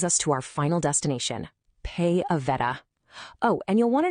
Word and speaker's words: PayAveta: And this brings us to our final destination, Pay Aveta. Oh, and you'll want to know this. It's pronounced Pay Aveta.